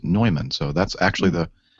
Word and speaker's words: Neumann: quality microphone manufacturer and it's spelled the same way you know we pronounce newman but they pronounce it neumann so that's actually the